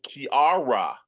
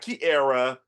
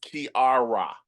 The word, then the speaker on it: Kiara: It is Kiara. And she's going to be sure to tell you that it's not Kiara, it's Kiara.